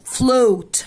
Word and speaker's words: float: Float. Float الأولى ما يجي وراها ايه اتفقنا ان هي بتتنطق long فأقولها flow. Floating.